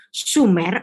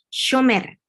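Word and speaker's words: שומר: Kira-kira ini bacanya apa? Sumer atau shomer? Masih terjadi ambiguitas kan? Tetapi sesuai konteks saya bisa membacanya dengan shomer. Bentuk kalakini atau bentuk ing. Jadi shomer.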